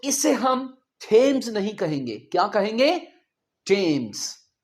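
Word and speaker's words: Thomas: सो इसे हम थेम्स नहीं कहेंगे।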